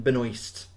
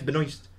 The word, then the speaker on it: Benoist: No, it's Benoist. Is that how you say it? Aye, because it's unless it's a silent S, then it's Benoit.